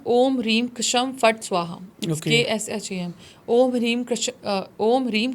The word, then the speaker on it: Ksham: इसके अलावा एक चैंटिंग है, ओम ह्रीम कशम फट स्वाहा, KSHAM। ओम ह्रीम कशम फट स्वाहा। ये चैंटिंग करने पे, कोई लोग शम भी कहते हैं, के साइलेंट रखते हैं, ये चैंटिंग करने से